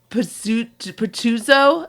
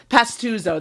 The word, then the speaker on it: Pastuzo: say it uh uh uncle petuso is that how they say it is that pastuzo that's it we got there we'll